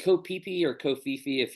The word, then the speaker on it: Koh Phi Phi: DiCaprio, and it's spelled PHI dash but it's pronounced Koh Phi Phi.